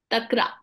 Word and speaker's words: takra: really good for such patients how do you pronounce it takra takra okay takra t a k r and